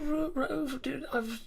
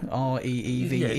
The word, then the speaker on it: Reeve: Oh, did you pronounce that Rove? Reeve, Rove? Reeve, R-E-E-V-E. Yes. Yeah, Reeve. Yeah, I think that's the way it is.